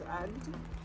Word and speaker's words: Agde: We looked it up and apparently this is the pronunciation. French pronunciation is Agde.